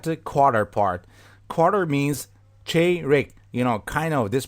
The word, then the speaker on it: çeyrek: Quarter means çeyrek. You know, kind of this pronunciation can help you. Çeyrek.